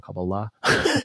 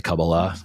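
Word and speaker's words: Kabbalah: cabala right or cabala I think is how you say it I think the emphasis is this the accents on the last syllable cabala anyway uh that mystical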